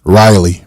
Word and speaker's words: Raleigh: that was in Raleigh Raleigh how do you pronounce it Raleigh Riley Riley yep North Carolina South Carolina sure no no no Riley North Carolina okay so I will be covering